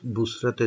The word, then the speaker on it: বুসরা: তো আমরা সে বুসরাতে যাই। বুসরা উচ্চারণটা এরকমই হবে মনে হয়, BUS আর এ তো ওরকমই উচ্চারণ হবে, বসরা না, হবে বুসরা বা অন্যভাবে বুসরাও হতে পারে।